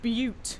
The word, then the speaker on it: Butte: It's pronounced Butte because it's a butte.